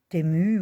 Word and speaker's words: Temu: Aujourd'hui, j'ai reçu ma commande TMU ouw, je crois que ça se prononce Timu, mais bon, tout le monde dit Tmu.